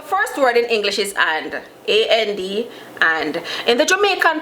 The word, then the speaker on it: an: The first word in English is and. A-N-D, and. In the Jamaican Patois, usually you'll hear an. Just an, no and, no D pronounced, just an, A-N.